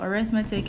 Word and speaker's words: arithmetic: it uses arithmetic so arithmetic is a noun and arithmetic pronounced that way is an adjective so that's why I'm